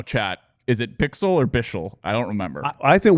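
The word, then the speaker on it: Bichsel: preseason we did and he actually told somebody that it was bixel but you pronounce it different it goes just say bixel that's what everybody calls me Bick or something like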